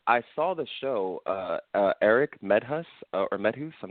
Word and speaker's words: Medhus: When I saw the show, Erik Medhus, or Medhus, I'm not sure how to say his name. Yes, Medhus.